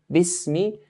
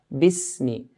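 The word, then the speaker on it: بِسْمِ: So right from the first word, Bismi, the ba has to be pronounced with a clear kasra. Bismi.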